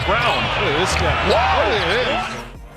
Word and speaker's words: Braun: Like it's Braun, B-R-A-U-N, but pronounced Brown.